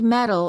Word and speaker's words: medal: spelled with the D since they're both between two vowels the sounds are identical metal he want a gold old medal in the Olympics medal